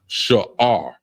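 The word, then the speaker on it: שאור: We have first word is yeast, and it's pronounced sha'ar, and it's spelled SHAAHR.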